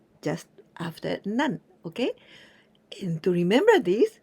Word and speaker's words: 何: When we use with counter words, always we pronounce with none, never nani, always none.